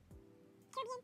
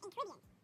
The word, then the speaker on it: Caribbean: Caribbean and Caribbean. Which way do you spell it?